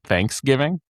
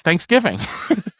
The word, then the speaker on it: Thanksgiving: He would hit the wrong syllable on Thanksgiving. He'd call it Thanksgiving, and it was always like it would always like drive me. That's not what people say. Thanksgiving. No, it's Thanksgiving. You say Thanksgiving.